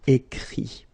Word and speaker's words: écrit: Remember that even if you've got this final t, you don't pronounce it, so it goes like écrit.